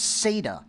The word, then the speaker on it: SATA: to replace ide and that's sata that's how we pronounce s-a-t-a notice here's a sata